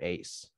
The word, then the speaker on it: Aze: Saigon Buffalo and Team Aze, or they call it Team Ace, but I don't know, it's spelled with Z.